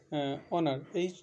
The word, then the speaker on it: honour: কতগুলো বিশেষ ওয়ার্ড আছে, যে বিশেষ ওয়ার্ডগুলোতে যদি প্রথমে অর্থাৎ ওয়ার্ডের শুরুতেই এইচ যেটা থাকে সেটা সাইলেন্ট থাকে। যেমন অনার, HONOUR, অনার।